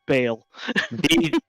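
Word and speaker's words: Bhaal: it is pronounced bale b-h-w-l yep yeah although there's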